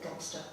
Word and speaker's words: Godmanchester: It's spelt Godmanchester, but the locals call it Gobster.